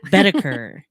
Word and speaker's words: Boedeker: Boedeker. It's like whenever you were in Sunday school and you're learning the Shadrach, Meshach, and Abednego, my teacher always said, Shadrach, Meshach, and a bed we go. Boedeker.